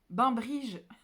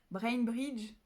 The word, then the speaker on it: Bainbridge: Bainbridge, je le prononce à la française. Alors, comment je le dirais à l'anglaise? Brainbridge, même si j'ai un accent pourri, c'est déjà un peu mieux.